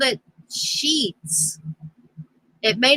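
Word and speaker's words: Sheetz: Oh, The name of the gas station, it was a trucker's gas station, was called it's gonna sound like a cuss word, but it's not. It's called Sheets.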